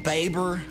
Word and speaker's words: Bieber: Bieber?